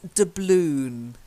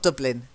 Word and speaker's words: doubloon: practice okay now the next one is doubloon not Dublin doubloon you've got to get the long ooh doubloon the balloon yeah there's